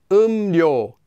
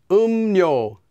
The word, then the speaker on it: 음료: Anytime the first syllable ends with the consonants 이응 or 미음, those two, and the second syllable begins with the consonant 릴, well, that 릴 will become pronounced as 니은.